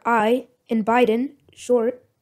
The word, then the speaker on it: Biden: Should we vote for Trump or Bidden? We read them as Trump and Biden because of my rule on syllables.